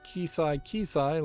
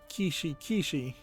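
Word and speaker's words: Keshi Keshi: Dragon Quest Kisai Kisai launches, or is it Kishi Kishi? Probably is Kishi Kishi. Yeah, that's how you pronounce that.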